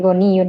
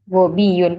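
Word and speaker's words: غبي: Tadi sepintas sana bacanya kayak goniyun ya, gobiyun. Nah, kalau kita salah memberi harokat, artinya jauh ya, kaya dan bodoh.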